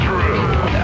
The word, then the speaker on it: Drew: My name is Drew. Pronounced with the Who.